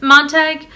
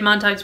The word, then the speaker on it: Montag: her family more than Montag is. So they do pronounce it Montag in the movie. I've heard it both ways, but Montag is how I'm going to say it from now on. So the parlor walls, they